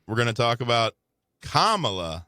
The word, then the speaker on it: Kamala: When we come back, next segment, we're going to talk about Kamala Harris. Like the comma. Correct.